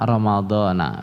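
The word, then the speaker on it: رمضان: lauro munsharif Hai Nah Tapi bacanya gimana Hai gila Romadhona begitu ya Nah itu kalau Rhoma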